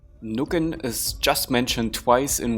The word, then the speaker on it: Nucken: The medieval term Nukken, which is probably pronounced Nücken, just like Schützen is Schützen, translates to the modern German terms Nicken, Stutzen, Einnicken, Scheuen, or Schlafen.